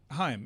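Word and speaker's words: HAIM: No, it's H A I M. Yeah. Like like the first syllable him.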